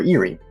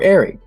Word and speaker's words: Eyrie: You have found the Blind Eyrie, or Eyrie, or Airy, however you want to pronounce that word.